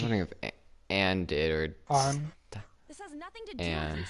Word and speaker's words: Anne: Did I pronounce this Sakamoto? No, I'm she- wondering if Anne did or On.